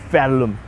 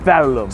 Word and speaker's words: Verulam: Well, again, people, this is OG Two Scoops, and I'm here in Verulam, next to the sign.